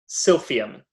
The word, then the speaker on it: silphium: i want to make sure i get the pronunciation right silphium s-i-l-p-h-i-u-m and uh and they when it when